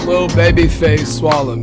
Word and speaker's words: Lilbabyfaceswalla: Your host is always Cole McAllister, and we are joined today, am I pronouncing this right? Lilbabyfaceswalla? Lilbabyfaceswalla, man. Okay, so it's Swalla.